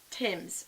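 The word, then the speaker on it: Thymes: Fir aromatic candle from Tim's which is spelled fine th y mes Fraser Fir this smells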